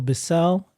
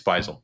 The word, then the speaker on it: Beisel: Have I been saying your name wrong the whole time? Dude. I've said this to others. It's Beisel.